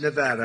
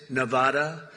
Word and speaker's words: Nevada: And don't ever mispronounce the name. You're not allowed to do that. You mispronounce the name, you got a problem. You ever see somebody when they say it's Nevada? Nevada? No, they're in deep trouble.